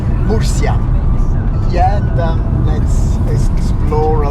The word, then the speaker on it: Murcia: Murcia. That's the right pronunciation on Spanish. Murcia.